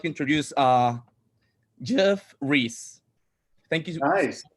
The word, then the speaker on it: Geoff: So I would like to introduce Geoff Reese. Thank you so much Nice. to be here tonight. Awesome. You said it the right way.